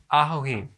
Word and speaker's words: ajoene: good thank you very much thanks so it's Ajo e okay so what is so special about this